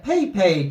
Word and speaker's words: PEIPEI: Today we're going over the Peipei token. Now this is like Pepe, but it is spelled P-E-I-P-E-I.